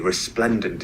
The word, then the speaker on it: resplendent: Screen, and I'm greeted by this very proud-looking lady, resplendent in her green cardigan. Resplendent in their scarlet tunics. Country fairs were an ideal hunting ground. Resplendent, resplendent. The stress is on the second syllable, resplendent. This means dazzling or impressive in appearance.